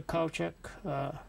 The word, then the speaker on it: Koutchak: is uh your name and and how you spell it my name is kochek culture dispel k-o-u-t-c-h-a-k and uh how would you